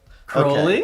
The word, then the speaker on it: Crowley: I love how in the Sandman they pronounced Aleister Crowley's name correctly, and Constantine for that matter.